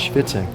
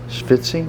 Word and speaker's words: Schvitz'n: It's Schvitz'n. Schvitzing? Schvitz'n. Schvitzing. Is that how you say it?